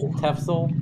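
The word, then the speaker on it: Tefzel: Svetzel wiring? Tefsel? Tefsel?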